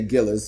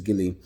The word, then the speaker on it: Gillies: So the Gillies, well, we say Gillis, but the proper pronunciation is Gilly.